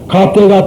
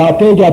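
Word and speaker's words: गते: 그래서 가떼 파라가떼 파라상 같은 이유가 그래서 그래요. 인도 사람이 가떼 그러고 중국 사람도 가떼 그러고 일본 사람은 조금 다릅니다. 갸떼 똑같은 소리예요.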